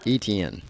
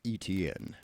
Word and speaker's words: Etienne: I always mispronounce his last name. Etienne. Yeah, like it almost sounds like a cable network. Etienne.